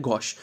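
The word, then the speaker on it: gauche: यूज़ किया जाता है वो क्या होता है गोश गोश की स्पेलिंग यहां पर देख लो जी ए यू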